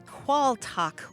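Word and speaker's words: quaaltagh: t a g h qual talk or in some parts of Britain it's pronounced qual and it comes from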